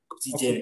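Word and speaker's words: Oxygène: Oksigen ini ada E-nya di belakang. Oksigen. Ini. Tapi E-nya nggak dibaca.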